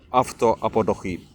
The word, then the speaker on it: αυτοαποδοχή: Absolutely, I think this is very appropriate message about Crowley, and I think αυτοαποδοχή. Αυτοαποδοχή, accent on the last.